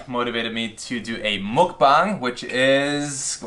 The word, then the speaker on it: mukbang: Is it pronounced mukbang? It's mukbang.